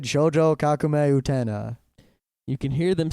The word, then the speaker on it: Utena: Yeah, I'd really like to get some more Utna.